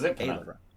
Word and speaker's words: Ayla: It's just like Also says name wrong after a month. It's Ayla. It's Ailra. Ayla.